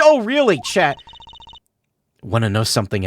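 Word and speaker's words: Orly: It's pronounced Oh, really? Chat. Want to know something else? I'm not really Russian and my last name sounds like Oh, really?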